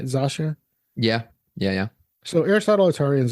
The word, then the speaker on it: Zosia: Zosia?